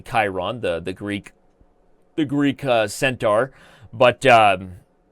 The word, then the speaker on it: Chiron: So, by the way, you corrected me from pronouncing Chiron, and now I'm saying correctly Chiron, the Greek centaur.